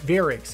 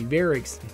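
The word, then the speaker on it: Variks: guy's name if I I maybe pronouncing this wrong but VAR varus or veric excuse me veric my bad that's his name he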